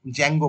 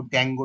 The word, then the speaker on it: Django: এটাকে জ্যাঙ্গো জ্যাঙ্গো বলা হয়, কেউ ড্যাঙ্গো ড্যাঙ্গো কিন্তু নয়, এটা এটা হচ্ছে জ্যাঙ্গো, ডি এর কিন্তু উচ্চারণটা হয় না।